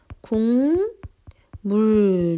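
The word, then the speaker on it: 국물: 자 대표적으로 한번 볼게요 우리 아까 있었던 국 물 이렇게 있잖아요 내가 발음이 어떻게 되죠 굼 물 이렇게 되죠 자 보세요 기억은 기억은 비음이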